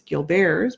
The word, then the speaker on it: Gilbert: disease which is Gilbert's it's spelled like Gilbert's but it's Gil bears because it's French and come to find